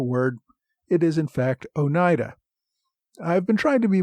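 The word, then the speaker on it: Oneida: about the iroy tribes and referred to the Ona tribe listeners inform me that once again I bought watch the correct pronunciation of a word it is in fact Onida I've been trying to be more careful about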